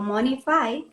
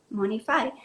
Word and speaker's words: Monefy: una de dos, o Monify, que se escribe Monefy, Monify, tiene una versión gratuita y te puede apoyar ahí a llevar tu presupuesto y tu control de gastos ahí mismo.